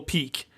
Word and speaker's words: Pique: There's Gibberish Jungle, Desert of Didgeridoos, Gourmand Land, Sea of Serendipity, and then Mystical Peak. And peak is spelled Piquue, as in like you've piqued my interest.